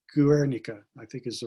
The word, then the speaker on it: Guernica: drawing of canarsa counter geek i'm for not pronouncing it right guernica i think is the right pronunciation but enough